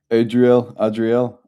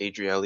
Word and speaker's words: Adriel: It's actually pronounced Adriele. Adriele. Now I'm fucking with you. No. No, you were right the first time, bro.